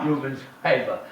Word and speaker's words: Rubens Paiva: Rubens Paiva.